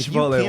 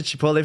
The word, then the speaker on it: Chipotle: Tomorrow we watch the Chipotle one. Provide I will say, when I went to Chipotle for the first time, I think I was